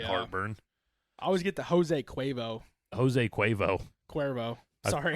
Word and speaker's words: Jose Cuervo: I always get the Jose Cuervo. Sorry. I thought it was Josie Cuervo. Jose Cuervo.